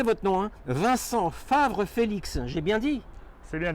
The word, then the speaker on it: Vincent Favre-Félix: Alors, attendez, je vais essayer de bien le prononcer votre nom. Hein. Vincent Favre-Félix, j'ai bien dit?